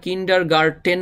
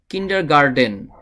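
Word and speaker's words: kindergarten: করতে হবে একটা হলো কিন্ডারগার্ডেন এই টি এর জায়গায় একটি ডি বা ড নিয়ে আসতে হবে তাহলে এই ওয়ার্ড বা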